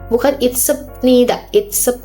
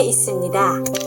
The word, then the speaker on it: 있습니다: Lalu ini 있습니다. Nah, seperti ini 있습니다. Bukan itsepnida, kan ya.